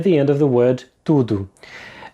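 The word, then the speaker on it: tudo: The first thing to pay attention to is the O at the end of the word tudu. It's pronounced as a short ooh sound.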